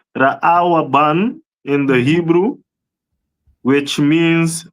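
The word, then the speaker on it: רְאוּבֵן: This one is the tribe of Reuben which is pronounced Raawaban in the Hebrew which means behold a son.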